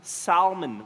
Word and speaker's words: Salmon: Salmon, with a thick L in the middle.